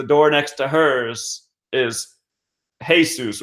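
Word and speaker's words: Jesús: she sees the door next to hers is hey Seuss right but she doesn't know that the Spanish pronounced s faces loves like Jesus with these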